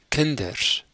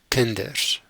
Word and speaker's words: kinders: a d Kent Kent the plural children is Kinders so now this is pronounced as a d Kinders the word for hat